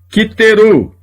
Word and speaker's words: kiteru: A próxima palavra, kiteru. Eles sacrificaram. Esta palavra tem um Shevá, esse Shevá é pronunciado porque aqui eu tenho um daguesh forte.